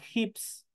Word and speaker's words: hips: siguiente cadera cadera es hips hips es tenemos una H que es aspirada hips es cadera cintura